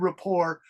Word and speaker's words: rapport: in chat a good rapport means good relationships with your manager or your leader Good Rapport it's spelled r a p p o r t but the French pronunciation is Rapport so it's when a